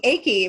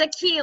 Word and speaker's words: Aki: I've been saying Aki, but it's a key. Um, So, okay. it's a key like here in Spanish.